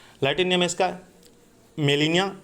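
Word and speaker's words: Gmelina: है लटन नेम इसका Melania arbo जी silent है मिलेनिया आर्बो कहते हैं लेकिन जी मिलेनिया आर्बो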